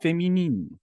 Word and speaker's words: féminine: So, why did you pronounce feminine in French and then the other was just like pure Manchester? Because I'm not very good at it. Division 1 féminine.